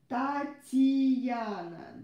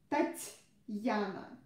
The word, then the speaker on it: Татьяна: Again, don't try to pronounce it like Татьяна. Not E, not Тати, Тати, but Тать, Тать, Татьяна. Татьяна.